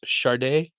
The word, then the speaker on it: Sade: And if you mean the artist shade is pronounced Sade, Sade, Sade.